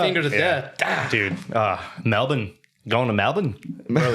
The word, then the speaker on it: Melbourne: Dude, Melbourne. Going to Melbourne, bro. It's Melbourne. It's not. No. What'd you say? There's no R in it. Apparently, it's pronounced Melbourne, Anyways, not Melbourne.